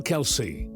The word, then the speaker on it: Kelce: Although the extended side of his father's family pronounces their surname as Kels, he opted for his father's pronunciation, Kelsey.